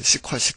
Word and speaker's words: SQL: 우리나라 사람들이 이제 SQL 이런데 이제 그 미국 애들은 이제 시퀄 이렇게 얘기하죠.